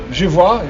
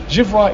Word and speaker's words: je vois: And the il and the je, if the je is je vois, V-O-I-S, and il, V-O-I-T, but given you don't pronounce the S or the T, je vois, il voit, they sound the same.